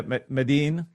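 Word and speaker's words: Medellín: Is that how you pronounce it? Medellin? Medellin? Yeah, Medellin.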